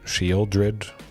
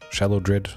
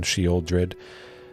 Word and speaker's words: Sheoldred: Sheoldred, Shallowdred. I still like calling her Shallowdred, mostly because I know that's wrong, and she'd probably get upset if she heard me mispronounce her name like that.